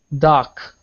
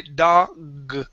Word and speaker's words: dog: doc okay all right give me that g at the end here you're pronouncing a k singing saying doc okay it is like goal okay goal we want to say dog dog okay all right all